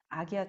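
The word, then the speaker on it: आज्ञा: 자, 여기 이제 미간 사이에 있는 아기야 차크라, 아즈나라고도 읽고 아기야라고도 읽어요. 인도 지역에 따라서 읽는 발음이 다르대요.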